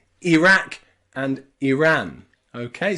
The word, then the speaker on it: Iraq: the UK will say Iraq and Iran okay so here the I and the r are two separate syllables and they are Ira or IRA okay Iraq and Iraq Iran